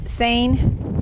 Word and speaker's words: seine: right now they're about to Seine saying yes okay I said it right like harvest like harvest